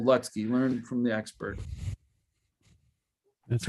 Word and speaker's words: Lutzke: That's how you say it, people. Lutzke.